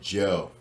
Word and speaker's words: Zhou: So his name is Joe. I mean, my dumb ass, but it's pronounced as Joe.